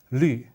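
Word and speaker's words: 绿: It's pronounced as qing, and this pronounced as lü.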